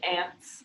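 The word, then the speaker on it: Anse: did they pronounce it ants yeah um they it sounds like ants like like uh little creatures right yeah um yeah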